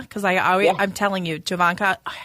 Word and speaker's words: Jovanaka: do we have today okay Javan is it javanka because I I'm telling you javanka I said it right I normally can get